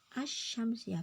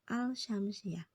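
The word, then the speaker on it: الشمسية: bacaan alif lam syamsiyah ingat ya Syamsiah asyamsiyah Bukan alsyamsiah karena apa Karena Sin itu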